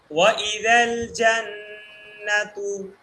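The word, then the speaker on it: جنات: ঠিক আছে এরপরে দেখল জান্নাতু বলেন ভাই জমের উচ্চারণ হচ্ছে না ঠিক করে বলেন জান্নাতু জান্নাতু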